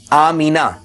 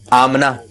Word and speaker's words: آمنہ: سویبہ، اور ان کا تعارف بھی پیش کیا۔ اسی طرح ایک نام ہے آمینہ، اس کو کچھ لوگ کہتے ہیں آمنہ، تو یہ بھی نہیں ہونا چاہیے۔ اسی طرح فاطمہ،